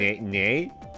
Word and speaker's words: Ye: is this too short yeah I thought I heard nay I'm like what is he a horse no it's it's pronounced ye oh hey look some